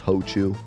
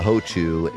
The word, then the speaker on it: Hochu: They probably thought that Ochu might be weird to pronounce in English, so they put the ho there to make it like obvious it's Hochu.